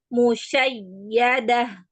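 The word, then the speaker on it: مشيدة: Jadi huruf ya yang bertasdid dan waw yang bertasdid itu cara membacanya dengan meninggikan nadanya. Jadi musyayyadah gitu ya.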